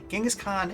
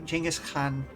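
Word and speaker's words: Genghis Khan: originally the conate under genas Khan or jenus Khan depending on how you want to genas Khan in English uh jengas Khan in a more traditional proper pronunciation I'm still in it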